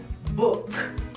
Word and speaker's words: book: español, pero en inglés se pronuncia book, book, book, book, book. Cuando ustedes vean esta combinación de doble O, la doble O se pronuncia como una U larga, como una U súper larga.